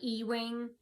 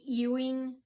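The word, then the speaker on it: Ewing: it's off of uh I call it e-wing but it's eing street it's spelled e w i n g and then there's that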